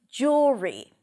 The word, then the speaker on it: jewelry: The first part is jewel. Jewel. It's a just sound, then the ooh as in food round your lips.